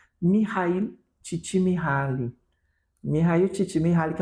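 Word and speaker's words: Mihaly Csikszentmihalyi: Mihail Csikszentmihalyi, que é um monte de consoante, gente.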